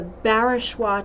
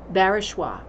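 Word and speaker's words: Barachois: the answer to this one it is the barishwa church so I'm going to spell that out for you if you've got your pen up and ready b-a-r-a-c-h-o-i-s barishwa um it's a beautiful Church in Nova Scotia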